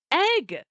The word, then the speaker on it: Egg: like, "Guys, my name's Egg. You've been saying it wrong this whole time. My name's not Ed. My name is Egg."